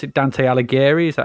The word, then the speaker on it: Dante Alighieri: So I don't know if you pronounce it Dante Alighieri.